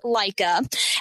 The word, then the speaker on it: Leica: the little bit of German I know it's pronounced Leica and Leica cameras have been around for a while and